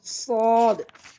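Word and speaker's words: صاد: এরপর সদ, সদ আমরা যেভাবে উচ্চারণ করব জিহ্বার আগা সামনের নিচে দুই দাঁতের পেট ও আগার সঙ্গে লাগাইয়া আমরা সদ, সদ।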